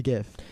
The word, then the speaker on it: GIF: technological at all are the primary people who say jiff as opposed to gift you know what Jeff is a peanut butter brand that's what Jeff is Jeff is some popcorn you know jiffy puffs just pop yep gif doesn't mean anything except image format therefore if the whoever